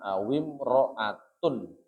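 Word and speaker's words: أو امرأةٌ: Bacanya awim ro'atun. imro'atun itu diikutkan rojulun gitu ya.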